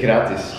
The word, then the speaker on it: gratis: because you guys gratis yeah yeah we say kiratis so it's like wow i don't know in